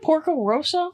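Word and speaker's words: Porco Rosso: next week por how do you say it Porco Roso I yeah you said it perfectly Porco R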